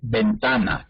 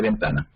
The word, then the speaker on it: ventana: ¿Cómo pronunciamos la B de ventana? Como si fuera una B larga. La B de burro.